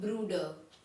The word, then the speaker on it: Bruder: Next is ब्रदर मतलब भाई को हम जर्मन कहते हैं ब्रूडर, यहाँ भी आर साइलेंट, ब्रूडर।